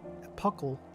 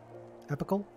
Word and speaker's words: epochal: It was, without a doubt, one of the most epochal, I don't know how to pronounce that, victories. Epical?